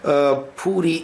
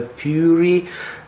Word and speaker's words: Puri: center in his cost pootie is the way how Indians pronounce the name of this very important holy city and in English sometimes people pronounce it as a Puri does map okay this